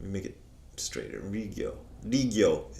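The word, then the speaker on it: 利行: Rigyo is how you pronounce that in Japanese.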